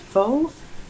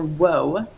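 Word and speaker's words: Whau: did look this up it's spelled w-h-a-u and it's pronounced faux or woe lunatic asylum cool okay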